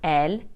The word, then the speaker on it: elles: to address people formally ill and L are pronounced the same as the singular subject pronouns ill and El this means that I won't pronounce ILS or El IL is used to